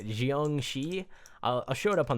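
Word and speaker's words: Jiangshi: But this is the, I believe how you pronounce it is like Jiangxi.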